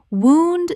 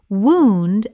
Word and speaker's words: wound: Wound the injury. Wound rhymes with moon. Wound as past tense of to wind.